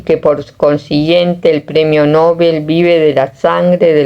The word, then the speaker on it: Nobel: Alfred Nobel con acento en la E y no en la O, creó el premio en